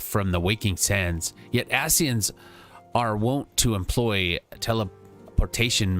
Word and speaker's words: Ascian: It's Ascian. That's how you say it.